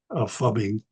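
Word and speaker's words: phubbing: It's spelled PHUB, fubbing, and it's a common term in the digital world, because it's a very common experience in the family.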